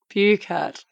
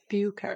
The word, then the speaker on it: Buchert: Oh my God, I asked you 2 seconds ago how to pronounce your last name. Is it? Oh, can It's you remind me? Buchert. Buchert.